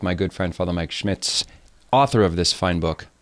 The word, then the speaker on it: Schmitz: It's Smith? Schmitz, you nailed it.